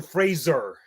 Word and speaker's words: Fraser: was like the Brendan Fraser show. Fun fact, did you know that his name is supposed to be pronounced to rhyme with razor and not Frasier, like the TV show?